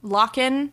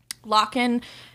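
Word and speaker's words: Lochan: pronouncing that right but it's spelled l-o-c-h-a-n okay so it's like lachlan without the second l and maya whitley the two oldest of five children living in london lochen and maya are 17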